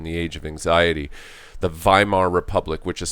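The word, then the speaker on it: Weimar: talk about in the age of anxiety the Vimal republic which is spelled w/e i ma r but remembered W's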